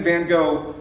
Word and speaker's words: Van Gogh: When he was 24 years old, Vincent van Gogh, or as I'm told his name is pronounced, Van Gogh.